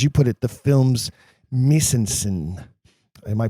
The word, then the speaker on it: mise en scène: performance and, as you put it, the film's mise en scène. Am I pronouncing that right? My French is terrible. Mise en scène, yes.